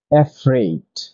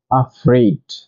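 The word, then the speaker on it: afraid: এই number four এই এফ আর এই আই ডি আমরা ভুলভাবে উচ্চারণ করে বলে থাকি এফ্রেড কিন্তু এর সঠিক উচ্চারণ হচ্ছে আফ্রেড নাম্বার ফাইভ এই এফ এফ ই সি টি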